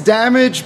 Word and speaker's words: Dommage: coming up as well dommage if you will just a proper way to say that it's damaged but it's spelled with two M so we get the